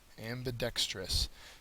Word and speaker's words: ambidextrous: Ambidextrous. Third syllable, adjective, able to use both hands equally well.